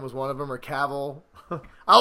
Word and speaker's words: Cavill: Henry Cavill and Tom Welling.